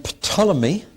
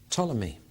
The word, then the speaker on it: Ptolemy: And then Ptolemy, p t o l e m y, you've heard of the Ptolemies.